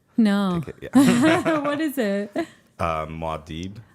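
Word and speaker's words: Muad'Dib: It's Maud Dib.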